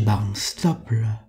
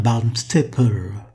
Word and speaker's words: Barnstaple: C'est l'histoire d'un journaliste anglais, Monsieur Barnstaple. Je prononce ce nom à la française. Il faudrait dire Barnstaple, qui décide de prendre des vacances.